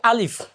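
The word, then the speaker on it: ألف: অনেকে এখানে ফর জায়গায় প পড়ে, এখানে আলিফ লাস্টে ফ, আলিফ, আলিফের ফ হবে, অনেকে প পড়ে। প বললে এটা ভুল হবে, ফ, আলিফ শব্দটা হবে আলিফ।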